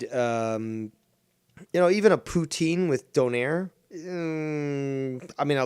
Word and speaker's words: poutine: But they have really good, authentic Donair, poutine, or poutin, as it's properly pronounced.